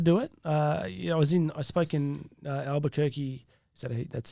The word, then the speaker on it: Albuquerque: I spoke in Albuquerque.